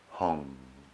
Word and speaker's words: Hong: same time mentally repeat the seed syllable mantra home which rhymes with song imagine that the breath